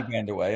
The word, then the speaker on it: Kiki Vandeweghe: Am I pronouncing that correctly? Yeah. Kiki Vandeweghe, yep.